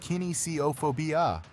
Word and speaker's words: kinesiophobia: Kinesiophobia, pronounced kinesiophobia.